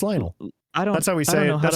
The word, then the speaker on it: Lionel: Lionol Messi. Lion Messi. Do you not know Lionol Messi? Lionel. No, it's Lionel.